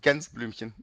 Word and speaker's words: Gänseblümchen: So it's like we pronounce it Gänseblümchen.